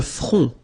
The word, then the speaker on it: front: Le front, final T not pronounced, le front.